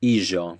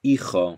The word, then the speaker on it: hijo: So whenever you have a J, it's pronounced like the S in Asia or pleasure or measure. For example, hijo instead of hijo, ojo instead of ojo.